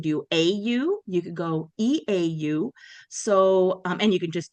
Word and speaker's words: eau: And in French, the word water is eau. And this is an interesting one because we spell it with random letters. So E-A-U. Um, make the sound o in French.